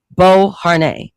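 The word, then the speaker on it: Beauharnais: That's how you pronounce the last name. Bo Har during his Italian military campaign.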